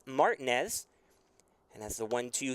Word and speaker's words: Martinez: name in south texas used to hearing martinez as the pronunciation i know we had some comments after jack came in for the first time but it is martinez and that's the one